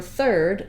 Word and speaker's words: third: a word like third so for third letters IR say the ER sound one sound it's just ER sometimes you spell it